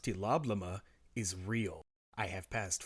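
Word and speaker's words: TLOBLM: T-L-O-B-L-M, pronounced tee-lob-la-muh, is real.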